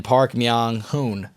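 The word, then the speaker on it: Park Myung-hoon: And then Park Meang Hoon Hoon rhymes with Moon.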